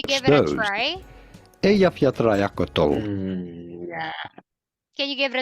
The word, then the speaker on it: Eyjafjallajökull: Eyjafjallajökull. It's actually way easier than you think. Let's have a look at how it would be spelled if we would spell it phonetically in English. Eyjafjallajökull, right?